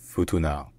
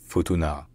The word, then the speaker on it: Futuna: lake so locally this island is known as Futuna Futuna fu to now F now all right if you enjoy learning our pronunciations don't forget to subscribe to my channel